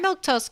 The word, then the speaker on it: Milquetoast: I'm Milktoast. That's how you say my name in case you were wondering.